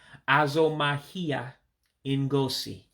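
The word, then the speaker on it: azụmahịa ngosi: So again, your special characters is a U with a dot underneath. That's what we call a diacritic, and that gives you an O sound. So that's why you hear me say Ah-Zoe-Mah-Hee-Ah. And again, that I with the dot underneath gives you that sharp E sound, that real high E sound. So that's why you hear me saying Ah-Zoe-Mah-Hee-Ah En-Goe-See, show business.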